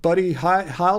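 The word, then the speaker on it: Buddy Hield: to make a play um for for um buddy heil does that is how you pronounce his name i just don't think um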